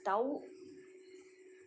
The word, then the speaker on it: tau: So the torque symbol is tau. This is pronounced as tau.